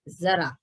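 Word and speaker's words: ज़रा: और यहाँ नीचे दिया हुआ है जरा, ज के नीचे नुक्ता लग गया तो ये जरा नहीं रह गया, ये क्या हो गया? जेड इसका उच्चारण होगा, जरा।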